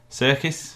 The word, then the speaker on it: Serkis: Serkis? Yeah. Andy Serkis. Yeah, and it's spelled like that.